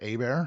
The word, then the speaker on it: Herbert: So Mahomes and Herbert or Abear, however you want to pronounce it. It's Herbert, isn't it?